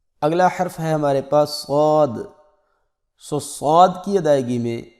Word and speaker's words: صاد: کچھ لوگ اس کو سواد پڑھتے ہیں اور کچھ لوگ اس کو صاد پڑھتے ہیں، تو یہ دونوں طرح غلط ہے، بلکہ اس کا اصل تلفظ یہ ہے صاد۔ اگلا حرف ہمارے پاس